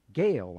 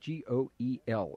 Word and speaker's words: Goel: Gale. I think that's how that's pronounced, G-O-E-L. Is that correct, Dr. Thompson? Goel.